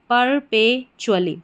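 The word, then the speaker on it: perpetually: चली टी यू A double L वाई चुली परपेचुअली तो क्या बन गई पूरी स्पेलिंग परपेचुअली परपेचुअली का हिंदी अर्थ होता है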